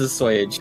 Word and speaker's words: assuage: I thought it was assuage. Yeah. I don't know. Assuage. Sounds like you're being paid an ass. Follow me. Oh, it is assuage.